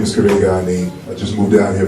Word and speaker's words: Karega: My name's not the alien from Space City, but he was having a hard time pronouncing my name. My name is Karega.